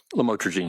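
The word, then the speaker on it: lamotrigine: about the u the lamel otherwise known as lamatroine. Did I pronounce that right? Lamotraine.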